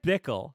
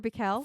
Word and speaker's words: Bikel: deal no and Ted Bickel yeah Ted Bickel is Marley sorry am I pronouncing that correctly it's Theodore bikel Theodore bikel there you